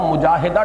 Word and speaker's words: مجاہدہ: جہد سے مجاہدہ، اصل میں ہم مجاہدہ کہہ دیتے ہیں، عربی میں اس کا تلفظ مجاہدہ ہوگا، اس لیے کہ یہ باب ہے مفاعلہ.